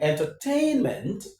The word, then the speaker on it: entertainment: Let's count from the end of the word. This is one, right? Men is one. Tain is two. Ter is three. En is four. We have four syllables in this word. En is the second syllable from the end of the word that takes the stress, which is the penultimate syllable.